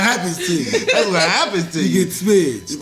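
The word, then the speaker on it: Smizz: Like you get all they basically saying it wrong. The drink is called a smidge. S-M-I-Z-Z. When you get toe off of it, it's called you smidge.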